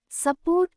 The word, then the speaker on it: support: Support, support. The first syllable, su, is unstressed and sounds like a.